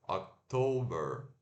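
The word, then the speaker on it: October: próximo mês temos outubro que se escreve oct o b e r como se fosse Ok mas se pronuncia ottober né então Ó que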